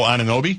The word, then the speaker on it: Anunoby: O Anunoby? Anunoby. Is that how you pronounce it?